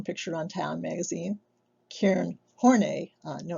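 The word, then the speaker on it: Horney: carl young shown pictured on town magazine karen hornay no it's not pronounced horny though with the last name spell like that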